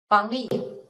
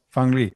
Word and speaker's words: Fang Li: It's Li Fang or Fang Li. How do I pronounce it? Fang Li. Fang Li.